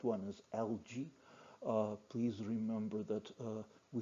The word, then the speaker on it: algae: Algae, this is pronounced algae. Uh, Algae, I'm not sure whether it's right pronunciation. It's understandable, but the correct one is algae.